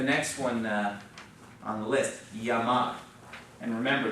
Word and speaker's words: llamar: Now, look at the next one on the list, llamar. And remember, the double L is pronounced like a Y, not like our English L. And so we'll do another one. It's going to be llamo, llamas, llama, llamamos, llama.